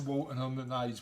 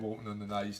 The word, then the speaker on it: Walton on the Naze: Sarah Sutherland said going to Walton on the Naze. We love a bit of Walton on the Naze, don't we? So part of our annual tradition. It rhymes with your favourite sauce. Mayonnaise. Maybe we should start a